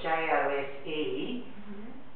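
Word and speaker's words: José: J-O-S-E is pronounced Jose. It's that little mark over the E, and I don't know what language it is. This form of J. It makes it say I. Could be Spanish, yeah.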